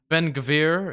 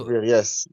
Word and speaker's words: Ben Gvir: Specifically, the person I was referencing in that conversation is I believe it's I am terrible pronunciation, but it's Ben Gvir. It's you say Ben it's Gvir, yes, yes.